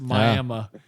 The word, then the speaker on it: Miami: Yeah, it's pronounced Miami.